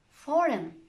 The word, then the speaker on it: foreign: It's usually silent if GN is at the end of a word like this. Campaign, design, foreign, sign.